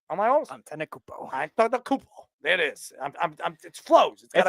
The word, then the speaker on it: Antetokounmpo: How do I pronounce? Hold on. Antetokounmpo, right? Am I almost? Antetokounmpo.